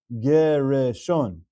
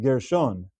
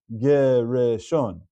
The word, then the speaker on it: Gereshon: This name is pronounced Gereshon. That's three syllables. The name is not Gershon. The name is Gereshon.